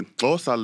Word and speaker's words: Xhosa: For this track, Kakuva is a word in the Xhosa language. Them clicks. I know. Them clicks. Let's get into that. Fam. Now, the Xhosa language, you have to do it with the click.